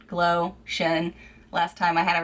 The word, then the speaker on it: Glowtion: It's like Glowtion, like lotion, Glowtion.